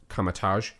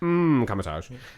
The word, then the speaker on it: Kamar-Taj: It's a silent M at the beginning of that. Kamatage.